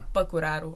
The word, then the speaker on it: Păcuraru: So in Romanian you have a little hat on top of the A, which is pronounced A. But the thing is, when I fill in forms or anything here, obviously I can't put the hat on. So the British version, I think, would be Păcuraru. Right. Okay. The correct version, in my opinion, is Păcuraru. Okay. But it depends how you roll your R's.